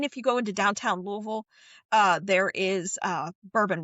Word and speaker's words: Louisville: It's Louisville. If you do not pronounce it correct, people yell.